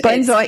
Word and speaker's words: benzoate: Sodium benzoate. Benzoate, yes.